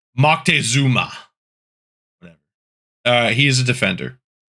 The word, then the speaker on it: Moctezuma: This is not Montezuma, right? This has a weird pronunciation because Montezuma is the localization, right? It's like Moctezuma.